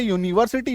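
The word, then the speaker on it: university: एस ए टी वाई यूनिवर्सिटी य में बड़ी उकार की मात्रा आई बात समझ में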